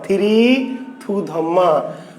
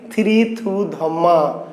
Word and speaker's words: থিরি থু ধম্মা: থিরি থু ধম্মা আসলে নাম ছিল শ্রী সুধর্মা। তো শ্রী সুধর্মা আরাকানিজ ভাষায় হয়ে গেছে কি? থিরি থু ধম্মা।